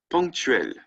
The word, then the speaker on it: ponctuel: So masculine singular, ponctuel, right? Punctuel, okay? EL. The masculine plural, ELS, right? And yep, the pronunciation is the exact same as the masculine singular.